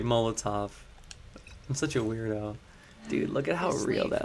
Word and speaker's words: Molotov: I used to call them Molo TVs. I when I when I was streaming back in the day, like we're talking 10 15 years ago, people would be like, "You're saying it wrong." They're like, "What are you saying?" I'm like, "Molo Molo TVs. Am I the only one that did that? It's really Molotov.